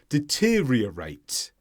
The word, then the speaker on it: deteriorate: There are two r sounds in the middle there. Deteriorate.